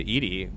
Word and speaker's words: EDI: so funny uh why are you named Ed Ed is the phonetic pronunciation of Eed that is an acronym for